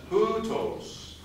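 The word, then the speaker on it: οὕτως: The next word has a rough breathing mark, and the accent is on the first syllable. So how would we pronounce this next word? Hutos.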